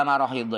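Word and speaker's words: مراحيض: Kata-kata perawi fawajadna marahidha itu itu bacanya adalah mim dibaca fathah, kemudian pakai ahad tanpa titik, kemudian dot yang bertitik.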